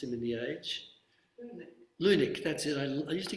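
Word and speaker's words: Leunig: There's a cartoon, Leung, is that how you pronounce him in The Age? Lunik, that's it.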